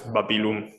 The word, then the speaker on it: Babilum: Now, the cool thing about Babylon in Sumerian is that it's written as Kat Dingira, but I suppose it was not actually pronounced like that, especially if the if the writer and the readers, are Akkadian literate. It's Babilo usually. Yeah, I would just translate it and transcribe it as Babilum.